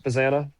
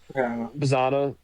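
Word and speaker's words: Bazzana: Uh and then they have like it really is a question of how quick uh how do you pronounce it? Bazanna. Bazanna. Yeah. Travis Bazanna. Bazanna.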